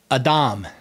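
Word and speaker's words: אדם: So Adam, which is, that's basically how it would be pronounced more or less in Hebrew.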